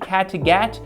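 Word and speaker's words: Kattegat: raiding the wilds along the viking inland sea catagat all the way to westeros that's that's how this is pronounced both both real places in sweden so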